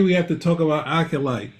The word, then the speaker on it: acolyte: I think the proper pronunciation is acolyte.